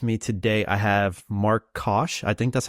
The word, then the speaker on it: Koch: With me today, I have Mark Koch. I think that's how you pronounce it, right? Or no? Cook, cook, Cook.